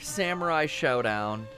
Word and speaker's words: Samurai Shodown: we are playing more Samurai Showdown and I say it that way because it's spelled that way Brian did you hear